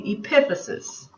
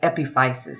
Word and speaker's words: epiphysis: bones are called the epiphysis and it's spelled like epifisis so that's Eep p i p h y s i s the eposis are the